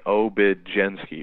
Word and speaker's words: Obiedzenski: So as long as you look at that as a J, Obiedzenski will pop kind of right into your mind.